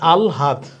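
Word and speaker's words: আহ্লাদ: এই আলহাদ, এটার উচ্চারণ কি হবে, এটার উচ্চারণ হবে আগে ল পরে হা, তাহলে আলহাদ 3 নম্বর।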